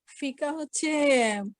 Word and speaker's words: ফিকহ: ফিকা শব্দটি আরবি শব্দ এটি উচ্চারণ ফিক ফে কাফ হা ফে কাফ হা ছোট হা গোল হা যেটি সেটি ফিকহ বলে ফিকাহ বলে আমরা ফিকার